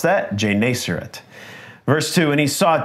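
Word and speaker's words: Gennesaret: God he was standing by the lake of jerat that's how you pronounce that jerat verse two and he saw two boats by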